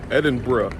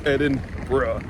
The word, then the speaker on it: Edinburgh: It's not Edinburg. It's Edin BR. Like your mate or your friend is about to do something really stupid or just off the cuff and you say bruh.